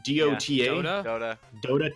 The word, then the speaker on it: Dota: Dota.